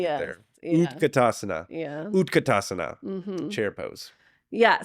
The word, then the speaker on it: utkatasana: Utkatasana. Yeah, let's do that. Did I say it right? Utkatasana.